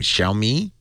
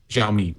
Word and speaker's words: Xiaomi: do you say this Chinese Android manufacturer's name xiaomi xiaomi xiaomi which means little me um I guess if you want to paint a bright light on it he's going xiaomi's potentially a huge partner for Android and here's